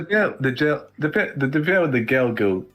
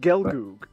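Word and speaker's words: Gelgoog: to give the the gel dep. Yeah, but it's pronounced gelgoo.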